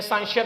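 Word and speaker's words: scientia: Basically हमारे पास जो साइंस का वर्ड है वो एक लैटिन वर्ड है, जिसका मतलब है, जिसे हम डिफरेंट प्रोनाउंसिएशन करते हैं, साइंसिया भी पढ़ते हैं, साइंटिया भी पढ़ते हैं, जिसका मतलब है नॉलेज।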